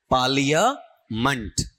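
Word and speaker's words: parliament: क्यों लिखते आपका और यह जो वर्ड है ना इसका उच्चारण लेना आपका पालिया मंट।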